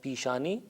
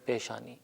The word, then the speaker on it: پیشانی: کا لفظ رائج ہے، البتہ تلفظ تھوڑا سا مختلف ہو جاتا ہے۔ ہم فارسی میں کہتے ہیں پیشانی اور اردو میں کہتے ہیں پیشانی۔ یہ بھی کہتا چلوں